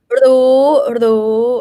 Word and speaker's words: รู้: Roria is low consonant with my tone is third tone, high tone. Ru, live syllable.